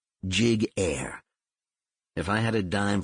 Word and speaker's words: Giguere: explain first of all my last name is pronounced jig air if I had a